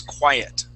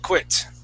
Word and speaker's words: quiet: Okay, and this word, Andrew, is quiet. Quiet. Did I pronounce it like quiet? Yeah. Quiet. You had said quit.